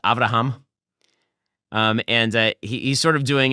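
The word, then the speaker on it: אברהם: What he's trying to do here, by the way, is that in Hebrew, Abraham is pronounced Avraham.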